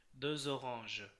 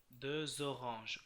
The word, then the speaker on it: deux oranges: যেমন ধরুন এটা, এটা কি হয়ে যাবে তখন, এটা হয়ে যাবে হচ্ছে de orange, এটা এই এক্সটা জ উচ্চারিত হয়ে যাবে, deux oranges, deux oranges, orange, orange, deux oranges।